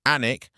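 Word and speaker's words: Alnwick: Alwick, pronounced Anic, and the town will know immediately that you're not from here if you don't.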